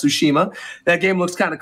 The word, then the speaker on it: Tsushima: people are calling it not Tsushima but sushma which is also incorrect it is pronounced Tsushima that game looks kind